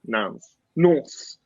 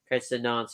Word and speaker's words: Nantes: How do you pronounce this team? Nantes.